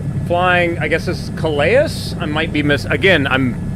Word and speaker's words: Calais: Flying, I guess this is Calais? I might be again, I'm probably mispronouncing everything horribly. I can't really catch up with the F-18. Calais? I said Calais-is. Calais? Silent S, okay.